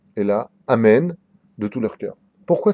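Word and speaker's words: אמן: le hé, Shemeh Rabba, Et les autres répondront Amen, pas Amin ni Amen Dada, et là Amen de tout leur cœur.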